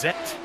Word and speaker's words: Z: German in the chat it's not Z or Zed for them it's zet oh yeah that's uh